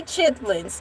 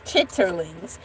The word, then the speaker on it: chitterlings: but I didn't say chitlins or the per the correct pronunciation is chitterlings.